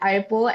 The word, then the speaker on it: Eipl: People want to pronounce the E, but it's actually um the E is silent even though it's in front.